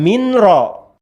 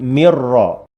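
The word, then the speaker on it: مِنْ رَبِّهِمْ: Mi nun mati min ya, bukan min ro, tapi mirro.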